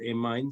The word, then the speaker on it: amine: I pronounce it amine. Some say, I don't know. I'll say amine. In accord with other people's pronunciation.